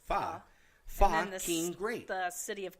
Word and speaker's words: Pho: Pho is spelled Pho, but it's pronounced Fa.